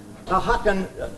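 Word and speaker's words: Ajacan: How would you pronounce A J A C A N? There you are. This is her, not me. Ahakan, that is what the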